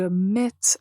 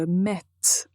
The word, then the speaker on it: mette: il faut que je mette à jour cette application il faut que je mette à jour cette application donc il faut bien prononcer la lettre T ok avant de commencer